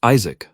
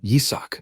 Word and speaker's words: Yisak: Isaac. That's an alternate pronunciation of his real name, Yisak.